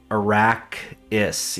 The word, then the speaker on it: Arrakis: Well, like that, Arrakis. Yeah, I think of it as, I know it's not a 2-syllable word, but I think of it as Iraq and then like hyphen is.